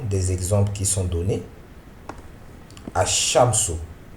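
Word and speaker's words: الشَّمْسُ: Ash-Shamsu. Hein, ça ne se prononce pas Al-Shamsu, mais Ash-Shamsu. On appuie sur le shin parce que le shin est doublé.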